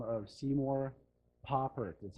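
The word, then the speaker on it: Papert: with the gentleman by the name of Seymour poprad that's how you pronounce his last name he passed away a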